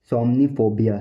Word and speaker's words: somniphobia: इसको बोलते हैं प्रोफेशनल इंग्लिश लैंग्वेज में सोमनीफोबिया, सोमनीफोबिया, सोमनीफोबिया, सोमनीफोबिया, सोमनीफोबिया, सोमनीफोबिया, सोमनीफोबिया, सोमनीफोबिया, सोमनीफोबिया, सोमनीफोबिया, सोमनीफोबिया, सोमनीफोबिया, सोमनीफोबिया, सोमनीफोबिया, सोमनीफोबिया।